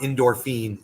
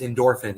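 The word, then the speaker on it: Indorphine: and it's really easy it's not endorphine it's i it's endorphin it's i n d o r p h i n e i believe there is an e at the end but it's pronounced endorphin i believe there is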